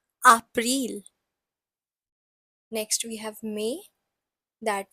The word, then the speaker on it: April: So spelling is same, but the pronunciation is April.